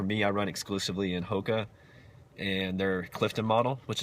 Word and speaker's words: Hoka: For me, I like Hoka, H-O-K-A, Hoka Ona, which is, it's Hoka, it's spelled 1-1. They have a lot of